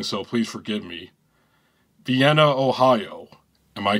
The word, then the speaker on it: Vienna: Vienna, Ohio. Am I correct? Yeah, Vienna. That's how you say it, Vienna.